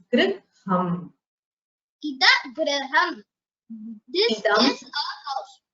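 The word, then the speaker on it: gṛham: This is the rkara which is added to the ga varna to make it a gunitakshara gr. So griham. You should pronounce it as griham.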